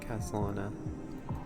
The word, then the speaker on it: Khaslana: The wishes of all the countless versions of you, Lord Kuslana. So that's how it is. Okay, that's how you say his name, Castalana.